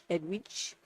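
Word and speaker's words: Edwige: Edwidge. Don't say it wrong.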